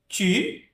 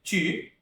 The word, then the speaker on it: tu: Aí nós temos aqui tu, palavra você, né? Tu. E temos a palavra lua. Lune. Lune, tá? Tu, lune. Mesmo som.